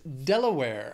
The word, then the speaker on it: Delaware: Next is Delaware. Has three syllables, stresses on that first syllable.